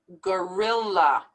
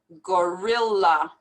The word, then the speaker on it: gorilla: these two l's vanilla same thing in this word we pronounce these two l's gorilla gorilla debt we don't pronounce